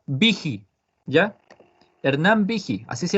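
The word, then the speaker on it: Büchi: Se escribe Buchi, pero se pronuncia Vigi, ¿ya?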